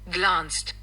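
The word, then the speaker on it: glanced: अब इसका प्रोनंसिएशन जरा सुनना पहले। ग्लांस्ड ग्लांस्ड ग्लांस्ड। ओके? इसका जो प्रोनंसिएशन है वो हो जाता है ग्लांस्ड।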